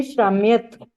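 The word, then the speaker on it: शाम्यथ: शम्यतः, मध्यम पुरुष बहुवचन: शम्यथा, अन्य पुरुष: शम्यथा। शम्याथा, आपको 'थ' का पूरा उच्चारण करना होगा। यथ नहीं, शाम्याथा।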